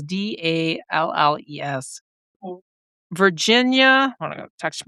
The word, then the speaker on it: Dalles: I was mispronouncing it Dallas. It's Dales, Dalles.